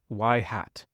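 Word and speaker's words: ŷ: little roof over it this is pronounced y hat mathematically the predicted data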